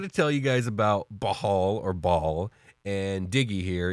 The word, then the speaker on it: Bhaal: So it's Bhaal. That's the only pronunciation I've ever seen.